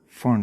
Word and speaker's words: Pfund: पी इसमें silent है, फर्न series.